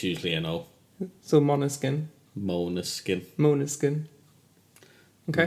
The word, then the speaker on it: Måneskin: back to this week's album which is a monoskin I believe I'm pronouncing that right it's main skin it's not